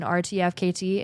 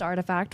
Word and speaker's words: RTFKT: and I kept saying rtfkt it's artifact it's pronounced artifact when you're communicating it that's the nft project